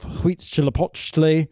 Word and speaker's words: Huitzilopochtli: He cuts the golden nose off an idol of Huitzilopochtli. Yeah, that's a good pronunciation.